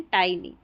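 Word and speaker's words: tiny: इसको टिनी नहीं पढ़ना है। फिर से बता रही हूं। अ टाइनी seed.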